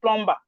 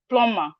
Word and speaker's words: plumber: Please, let's stop calling it plumber. Most Nigerians, every Nigerian will call it plumber. It's not plumber, please. The B is silent, so it's plumber.